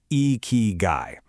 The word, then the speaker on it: ikigai: You say it like eeky guy.